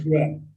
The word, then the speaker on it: Conisbrough: it's same as we live in Conisborough, but it's called Conisborough It's not, it's kind of, Conisbrough. because of the way it's spelled.